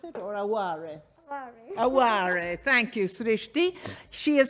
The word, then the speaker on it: Aware: And lastly, but not least, there she is, Srishti Aware, is that how I pronounce it, or Aware? Aware, thank you, Srishti.